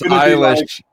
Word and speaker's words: Eilish: I pronounced her name wrong. I didn't have the heart to tell you, man. Yeah, you should have. It's Eilish.